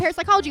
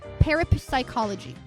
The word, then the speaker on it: parapsychology: Uh, he talked about parasychology a lot because it was, you know, something to do with the massive games video he was discussing. And he kept calling it parapsychology, pronouncing both P's.